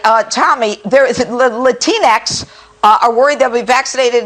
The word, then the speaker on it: Latinx: uh the other day talking about latinx to man that rhymes with kleenex take a listen to